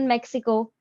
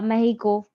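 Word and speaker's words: Mexico: फिर टू the south in मेक्सिको या मेहिको, the correct pronunciation is ऑफ two types, एक तो मेक्सिको है और दूसरा जो है वो है मेहिको, ये भी रिसेंटली पता पड़ा है।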